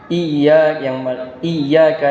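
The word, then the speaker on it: إِيَّاكَ: Nah, ini yang kita harus hati-hati adalah pengucapan huruf iya. I dan huruf ya-nya ini ada tanda syabdunya, ada tasydid, yang mana di sini harus dibaca dengan ganda atau ada penekanan di sana, yaitu iyyaka na'budu wa iyyaka nasta'in.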